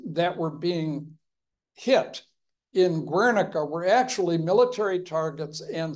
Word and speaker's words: Guernica: How did Wernicke color the thinking about strategic bombing? It had some influence, but, and I pronounced it Guernica, so I'm not correcting you. It's because my Spanish is off.